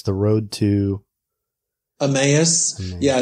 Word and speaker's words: Emmaus: did your more recent book how do you pronounce it by the way it's the road to emmaus yeah it's kind of a funny word isn't it or in spanish it would be a mousse but in english it's emmaus um which is